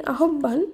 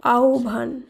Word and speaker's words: আহ্বান: আপনি যদি বলে থাকেন আহ্বান, তাহলে সেটি ভুল উচ্চারিত শব্দ, এর শুদ্ধ উচ্চারণ হবে আহ্বান। আহ্বান। এখানে হয় বয়ের পরিবর্তে এর উচ্চারণ হবে ও ভ হিসাবে।